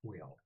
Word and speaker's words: Quayle: This is Portmaster Quail. Quail, like the bird? Quayle.